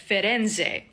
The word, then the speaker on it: Firenze: I think Florence is the biggest example of this because in Florence, the locals spell and pronounce it like Firenze.